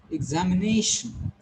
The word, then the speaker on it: examination: It's examination. So this nay is getting more stress here. Nay is having higher pitch here.